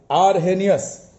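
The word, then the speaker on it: Arrhenius: by arhenius all right it was given by arhenius is silent he was from sweden in 1884 he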